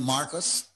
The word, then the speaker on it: Mayorkas: the individual that Alan E.K., how do you pronounce his name? Mayorkas.